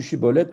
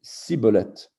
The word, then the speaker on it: shibboleth: L'histoire du shibboleth que les Giladides prononcent shibboleth et les Éphraïmites Siboleth, tendrait à démontrer, donc cette histoire tendrait à démontrer l'évolution et qu'elle ne fut pas homogène.